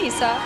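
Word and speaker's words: Eisa: right what did you because it's spelled e-i-s-a and i said it right so how did you tell everybody actually they've been doing pretty well most of them guessed issa right off the bat they did yes i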